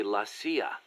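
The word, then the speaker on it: la CIA: So the story goes around here they say lassia instead of CIA. Huh? Um nothing strange about it. That's how it's pronounced when you read it in Spanish.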